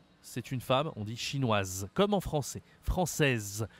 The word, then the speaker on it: chinoise: Baker américain américain waywong chinoise chinoise ok là wewong c'est une femme on dit chinoise comme en français française chinoise on prononce la fin du mot quand c'est une nationalité féminine ok maintenant j'ai quelques